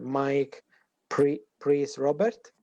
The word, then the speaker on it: Mike Prys-Roberts: Mike Prys-Roberts. Did I pronounce correct?